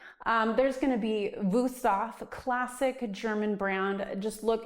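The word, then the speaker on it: Wüsthof: Um, there's going to be Vousaf, classic German brand. Just look, it's it's a W. They pronounce it with a V.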